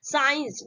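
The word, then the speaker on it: science: Rule आ गया है, अगर एस के साथ सी लगा हो तो सी हमेशा साइलेंट होता है, ठीक है। अगर एस आता है, ठीक है, और एस के बाद जैसे ही आपका सी आएगा, जब सी आएगा तो सी क्या होता है आपका, साइलेंट होता है और उसको हम क्या करते हैं, प्रोनाउंसिएशन नहीं करते, ठीक है। जैसे यहाँ पे एग्जांपल से साइंस, ठीक है, साइंस देखिए यहाँ पे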